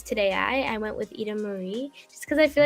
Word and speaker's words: Ida-Maria: as well yeah because in italian i is pronounced as e that's why i know